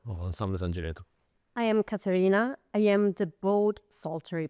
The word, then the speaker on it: Caterina: I am Caterina.